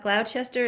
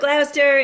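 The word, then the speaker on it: Gloucester: to say that word I always mix it up Glouchester it's not it's something else gler thank you Glouster in the UK oh I have that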